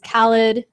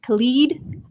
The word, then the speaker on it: Khalid: best new artist was Khaled actually I think his name might actually be pronounced Khalid where DJ Khaled is pronounced Khaled so keep them separate anyway no he won